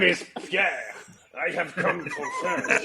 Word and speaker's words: Per: My name is Pierre.